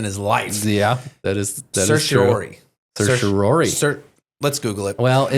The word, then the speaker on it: certiorari: Supreme Court, and they granted certiorari and actually decided this case.